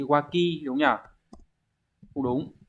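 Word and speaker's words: 脇: ba là chữ hiếp là nách cái này phải đọc là gì waki đúng không nhở không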